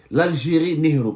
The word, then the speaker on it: Nehru: Nehru plus exactement, on se prononce, l'Algérie doit être libre.